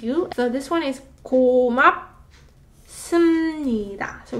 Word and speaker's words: 고맙습니다: So this one is 고맙. 습니다. So it's not 습니다, but 습니다. So 비읍 받침 becomes a 미음 받침 sound, therefore making it a lot smoother to pronounce.